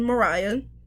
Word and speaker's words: Mariya: With that being said, while my name is pronounced again Mariah, just like the singer Mariah Carey, I cannot sing.